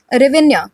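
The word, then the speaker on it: Hryvnia: एंड यहाँ पे जो करेंसी है वह यूक्रेनियन रेवेन्या, ठीक है। तो यहाँ पे एच साइलेंट रहता है, तो ये इसकी करेंसी है।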